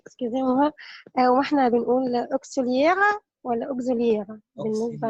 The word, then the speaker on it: auxiliaire: فعندنا وكونكسيون واتصال كلمة كونكسيون برضو فيها ويكس وبننطقها بالاس كونكسيون اوكسيليير.